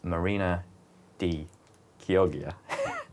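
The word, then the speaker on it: Marina di Chioggia: the pronunciation there but I think it's Italian so you get that k sound at the start and this probably the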